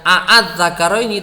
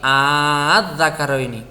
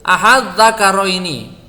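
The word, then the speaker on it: آلذَّكَرَيْنِ: Nah, kalau dibaca adz-dzakaraini itu berarti hamzah yang kedua itu dibunyikan dengan suara alif. Ya, menjadi adz-dzakaraini. Jadi tidak a'adz-dzakaraini tapi adz-dzakaraini. Boleh juga dibaca tashil ahadz-dzakaraini.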